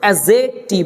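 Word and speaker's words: adjective: ডি জে ই সি টি আই ভি ই উচ্চারণটা আমরা এখানে লিখে রাখলাম এটার আমাদের প্রয়োজন আছে তো এডজেক্টিভ এটা পড়তে হবে এ ডি অ্যাড জেক টিভ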